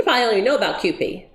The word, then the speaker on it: Kewpie: So have you, and you probably don't even know about Kewpie. Rhymes with poopy.